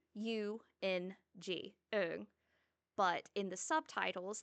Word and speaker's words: Eung: And I've noticed in the book, it's spelled e u n g, Ung.